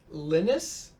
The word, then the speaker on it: Linus: Linus? Well, he's Swedish, so that's how they pronounce it.